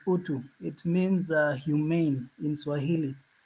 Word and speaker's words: utu: always good listening to um yeah and you pronounced the name right it's utu it means Humane in Swahili um now there's